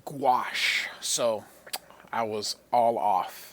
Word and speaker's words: gouache: that so I took a look and it's pronounced gouache so I was all off so he uses